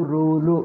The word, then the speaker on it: ಋ: ವಿಸರ್ಗ ಗೊತ್ತು ಅನುಸ್ವಾರ ವಿಸರ್ಗ ಆಯ್ತು ಇನ್ನೊಂದು ಅವು ಅವು ಋ ಇದೆ ನೋಡಿ ಅ ಆ ಮೇಲೆ ಕೆಳಗೆ ಓದಬೇಕು ನೋಡಿ ಅ ಆ ಆಮೇಲೆ ನೋಡಿದ್ವಿ ಮೇಲಿನಿಂದ ಕೆಳಗೆ ಹೋಗಬೇಕು ಅ ಆ ಇ ಉ ಉ ಋ ಋ ಋ ಅಷ್ಟೇ ಋ ಅಷ್ಟೇ ಅದು ಋ ಗೆ